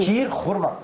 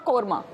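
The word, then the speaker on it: شیر خرمہ: शीर खुरमा, जी। शीर खुरमा, खुरमा नॉट कोरमा।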